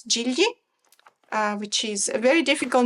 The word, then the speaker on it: Gigli: I know the name in Italian, it's Gigli. Which is a very difficult name to pronounce for anyone who's not Italian, because my husband can never pronounce the GL in the Italian way together.